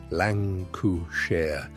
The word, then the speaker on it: Lancashire: Cotton was pouring off the spindles of Lancashire, pronounced Lan- coo- share, in lengths longer than any country in history had ever produced.